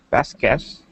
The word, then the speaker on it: baskets: Baskets. Okay, that's better. The T before the S sound. It just sounds like it's a stretch sound.